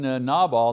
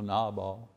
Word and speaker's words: Nabal: I mean, Nabal, and that's the way you pronounce his name, you know, Nabal.